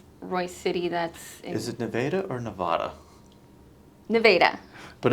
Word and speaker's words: Nevada: the state is and everyone in the US says Nevada right yeah and that's how I pronounced it at first and I was corrected and I was like okay it's Neva yes maybe someone else